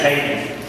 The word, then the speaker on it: Haydn: His name is actually Haydn. And it's not spelled like normal, but it's actually Haydn.